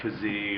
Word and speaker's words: Keesee: real extravagant script from KY ke SE sometimes pronounce kazy or variations of that amand par P RR